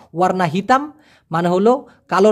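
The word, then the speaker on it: warna: হয় ওয়ারনা ওয়ারনা না উচ্চারণটা হবে এরকম ও আর না ওয়ারনা যেমন ওয়ারনা পুতে মানে হচ্ছে সাদা রং ওয়ারনা হিতাম মানে হলো কালো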